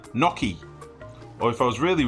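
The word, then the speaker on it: gnocchi: Sam don't be me I agree with swords pronunciation well that's that's wrong it's an Italian dish it's called naki right listen go watch like a toe and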